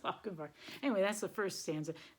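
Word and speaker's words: Lochinvar: knight like the young Lochenvar. So, no, I reversed that. War is supposed to rhyme with Lochenvar.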